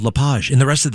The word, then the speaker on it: LePage: French people say LePage and and and and Americans say LePage, but believe it or